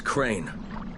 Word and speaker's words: Crane: No, my name's Crane. Crane? Crane rhymes with train, and brain, and sane, and grain, and rain, and plane, and the other kind of plane, and...